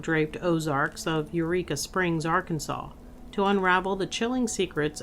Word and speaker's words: Arkansas: you can call it R, Kansas, cuz that's how I say it in everyday life. But today, I'll be good and say it Arkansas the way apparently you're supposed to. But let's be real, it's spelled R Kansas.